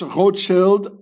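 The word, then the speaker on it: Rothschild: Also this road shield I pronounce it the original German way. Shield here it means a shield and rot it means red the red shield.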